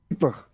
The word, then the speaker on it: Kuiper: Kuiper. Sorry? Well, Kuiper. Kuiper. Oh, I'll do my best. It's like Dutch version of Cooper.